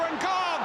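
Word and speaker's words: N'Gog: a French under-21 international, and we've called him Ngo for much of his career, but he's been offered a chance by Cameroon recently, and he now prefers the African pronunciation Ngog, incidentally.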